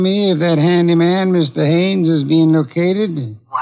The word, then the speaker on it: Haines: Haines. H A I N E S. Ah. Oh, Haines. Yeah, do you know him? Well, his your full name Hines, used to No, no, no, not Hines.